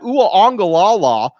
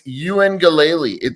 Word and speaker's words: Uengalele: Then I keep hearing about Uaongalala or whatever. Yeah, that's right, dude. Uaongalala? It's Uengalele. There's like a silent N.